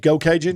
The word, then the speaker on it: Geaux Cajun: Go Cajun? Go Cajun on Will you Facebook. spell that, please, real quick for everybody?